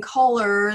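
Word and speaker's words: choler: And then the collar, because it sounds like it, and that would make you a slave if you were wearing a collar. And it is in color, the one that's spelled C-H-O-L-E-R means anger.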